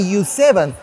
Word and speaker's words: YU7: Tell me U7 by the way is the correct way to pronounce it.